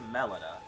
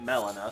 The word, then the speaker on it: Melina: torrent and talk to Melita or you know Molina however you want to pronounce her name the game pronounces it Melina so who am I